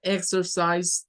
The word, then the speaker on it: exercise: La X en inglés suena a una K y a una S.